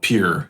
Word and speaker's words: Pierre: First of all, isn't it Pierre? Isn't that how you say it? No, the people who live there call it Pierre.